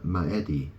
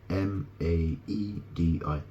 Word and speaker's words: Maedi: allowed Alexander to quell the rebellion of the maedi M Mi it's spelled m AE d i m a e d i m maedi maedi these traits allowed Alexander to